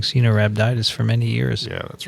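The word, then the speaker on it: Caenorhabditis: Can you pronounce the full name for C. elegans? Cenorhabditis.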